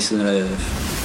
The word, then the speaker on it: solennelle: Un mot pas assez utilisé apparemment, vu qu'on n'arrive pas à le prononcer. Solennelle. Oh là là, il y a 4 syllabes, c'est beaucoup trop dur.